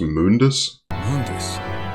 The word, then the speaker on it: Mundus: also what the hell his name is pronounced Mundus why did the reboot change